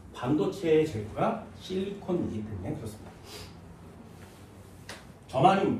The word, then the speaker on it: 저마늄: 저마늄, 니는 저마늄 먹어요? 일본식 발음으로는 게르마늄이라고 합니다.